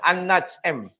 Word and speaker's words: An-Najm: Cara bacanya gimana? An-Najm. An-Najm.